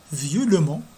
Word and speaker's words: violemment: Violent, violemment. Regardez, il s'écrit violemment, mais il se prononce violemment.